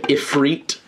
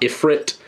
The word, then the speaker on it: Ifrit: said another Magnum but uh I keep saying IFR and not iFit because I'm used to saying it IFR because of uh danball seni when in fact